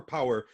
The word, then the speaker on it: PowHer: So it's Poker PowHer, but it's spelled POWHER. So capital HER.